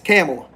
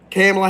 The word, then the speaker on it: Kamala: how you spell her name it's how it's pronounced it's camela camela Harris we have Alexandria and I believe the